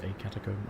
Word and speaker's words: catacomb: A catacomb, I don't know. I just know that the preferred English is catacomb. I guess it rhymes with tomb.